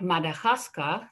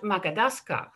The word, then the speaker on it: Madagascar: i want to say um like madagascar that's one of the words that my son used he was always talking about makadaska and macadascar has the same syllables as madagascar but the order is is wrong so in planning in